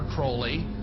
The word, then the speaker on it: Crowley: have his name pronounced Crowley to rhyme with holy and uh the satanists